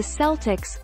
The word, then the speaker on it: Celtics: is why it is pronounced the celtics with a soft c but celtic music with